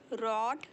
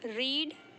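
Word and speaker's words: read: fund of writing पढ़ना रीड इस देखिए इसको बोलते हैं रेड इसे बोलते हैं रेड भले स्पेलिंग सेम है बट हम इसे प्रोन सिएट करते हैं रीड रेड रेड मुझे रात को पढ़ना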